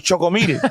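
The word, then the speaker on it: Choco Milk: um nestle quick but it was choco c-h-o-c-o milk m-i-l-k but they they didn't pronounce the k it was choco meaty oh yeah i remember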